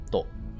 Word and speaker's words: と: It's really nice how they say it because the to becomes like softer vocally. So it'd be like, Edo jidai no honinbo shusaku to. That to is like very short at the end.